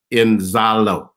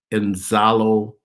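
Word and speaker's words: Inzalo: and see that but the african people call it uh enzalo i'm not pronouncing it in the zulu fashion but i can't do the clicks but let me spell it for you in english i n z a l o and then capital y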